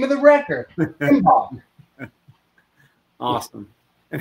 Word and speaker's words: Imbolc: It's directly in between is something called the Imbolc, and it hits the first week of February.